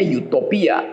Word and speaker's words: Utopia: quito ya 1500 lalu memakai istilah Utopia bacanya youthopia you artinya bagus topi artinya boosie tempat